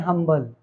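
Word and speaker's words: humble: हम प्रोनाउंस करते थे अंबल अब इसे हम प्रोनाउंस करते हैं हमल अब इसे हम प्रोनाउंस करते हैं हंबल ठीक है तो अब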